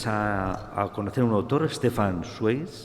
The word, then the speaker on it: Stefan Zweig: Te conocí también y a ti me ayudaste a conocer a un autor, Stefan Zweig, no se pronuncia así muy bien en alemán, pero genial, descubrí un autor que me encanta.